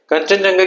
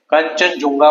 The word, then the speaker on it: कंचनजंगा: कंचनजुंगा बोलते हैं इसको, कंचनजंगा बोलते हैं इसको, कंचनजंगा बोलते हैं, कंचनजंगा, मतलब अलग अलग वर्ड है। जुंगा वर्ड यूज कर सकते हो, जंगा